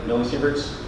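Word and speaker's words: millisievert: that we did much with radiation but uh millisevers did I did I pronounce that correctly millisevers with radiation measured it?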